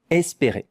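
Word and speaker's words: espérer: These two letters E and R make the sound E. Esper.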